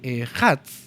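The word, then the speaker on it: אחד: Al pronunciar la palabra ejad se debe prolongar un poco la dalet.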